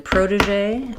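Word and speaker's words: protégé: Um so in protege um we do stress on the first syllable. So proteé. Um and we have um first syllable stress. Letter O does say the O sound like in program. We can flap that T. Proda in American English. Prod. This E is awah sound.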